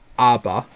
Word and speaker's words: ABBA: to and this is Aba or Abba but it's pronounced ABA I think with the song danc